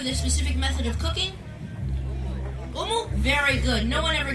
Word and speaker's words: umu: Umu? Very good. No one ever gets that right. Now, family, this right here is called the umu, as you heard them say.